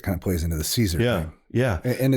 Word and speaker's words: Caesar: of plays into the Caesar yeah and it's Kaiser actually Kaiser that's the pronunciation they also compare uh